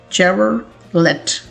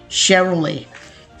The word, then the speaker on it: Chevrolet: वो लेट को लाजमी पढ़ते हैं, लेकिन अगर आप इसे इस तरह से पढ़ते हैं तो आप इसकी गलत प्रोनाउंसिएशन करते हैं। इसकी जो करेक्ट प्रोनाउंसिएशन होती है वो कुछ इस तरह से होती है, इसे पढ़ा जाता है Chevrolet। इसके 3 सिलेबल्स होते हैं, इसे आप पढ़ते हैं शेव और ले।